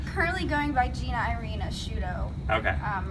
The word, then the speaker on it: Asciutto: want you to pronounce I want you to pronounce it I uh I'm currently going by Gina Irina a shudo okay um right now just I like the